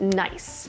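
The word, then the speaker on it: gneiss: It includes a type of rock called Nice, which looks nothing like how it's spelled, but does make for some very nice geology puns.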